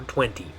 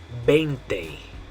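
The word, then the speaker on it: veinte: All right, and the way you're going to say this one is 20. 20. Remember, you're making a B sound, 20. Now, I have heard a lot of English speakers will mess this one up because they want to say the V sound on this one, because that's the way you say it in English.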